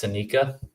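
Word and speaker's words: Psenicka: So, whether that's Carter Amico, Simon Wang, Jacob Romback, or this guy, I'm going to take Max Senica. It's spelled with a PSEN.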